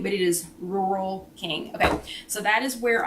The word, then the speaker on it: Rural King: what i'm saying it's you pronounce it rule king but it's r-u-r-a-l rule king r-u-r-a-l um